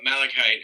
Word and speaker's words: Malachite: and nicki minaj and then you have uh malachite is how you pronounce it do you know um but like